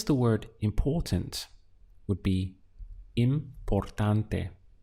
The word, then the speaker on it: importante: To express the word important would be importante. Let's count the syllables. We have im, por, tan, te. Importante.